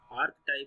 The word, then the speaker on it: archetype: आर्क टाइप या आर्च टाइप आप जो भी बोलें, आप कुछ भी प्रोनाउंसिएशन हो सकती है किसी की, मैं आर्च टाइप बोलता हूँ, बहुत सारे आप आर्क टाइप सुनेंगे।